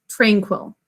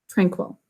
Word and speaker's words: tranquil: marking it differently though we're just going to underline the a saying its name here because that's the way almost everybody pronounces it tranquil tranquil some people will say